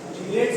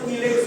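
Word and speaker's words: chelates: चीलेट्स और कीलेट्स भी बोलते हैं, जो आपको प्रोनाउंसिएट करना है।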